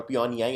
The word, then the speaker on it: Pyongyang: The capital of North Korea is Pyongyang, or Pyongyang as it's pronounced.